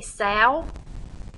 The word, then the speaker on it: sow: A female that has reproduced or had babies is a sow. You can remember it because it rhymes with cow, so hopefully that might